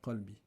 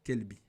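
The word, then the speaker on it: قلبي: Mais que vous ne prononcez pas bien le qaf. Vous le prononcez ke. Ya kelbi. Ya kelbi.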